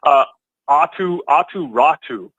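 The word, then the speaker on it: Aatu Räty: Otu Rade? Help me as well. Yes. Atu Ratu.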